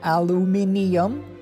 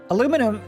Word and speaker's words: aluminium: And aluminium should be pronounced aluminium. True also. Aluminum doesn't make any sense because it's aluminium.